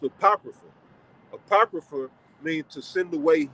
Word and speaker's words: Apocrypha: supposed to be there right so that's that's pronounced Apocrypha apocrypha mean to send away hidden all right